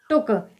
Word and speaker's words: took: तो इसे हम क्या पढ़ेंगे, TOOK को टुक।